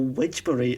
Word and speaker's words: Wednesbury: There's a bit where the guy was like, and then we'll talk about Wednesbury, or Wedgbury, as the locals say.